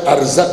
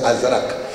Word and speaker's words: ازرق: ازرق شامی، بعض مرثیوں میں ارزق آ گیا، وہ غلط پرنٹ ہوا، پھر وہی چل گیا. صحیح تلفظ ہے ازرق.